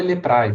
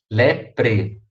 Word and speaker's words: leprae: se você pronunciar leprae não fale leprae por favor lepri mycobacterium lepri e esse